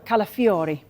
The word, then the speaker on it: Calafiori: Arsenal how close is a deal for Ricardo calafiori good good pronunciation that Haley look look at this 35